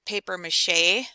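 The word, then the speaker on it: papier-mâché: It shows the amounts of flour and water she needs to keep the paper mache, that's how you pronounce that, paper mache, animals, and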